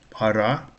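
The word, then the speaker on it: пара: Para. Stress is on the second syllable.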